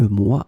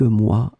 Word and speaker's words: mois: So here, as you can see, moi, it's the plural form of un mois, so it's quelques mois, des mois, but then we don't pronounce the final S, so that's the reason why you end up with the same phonetical form.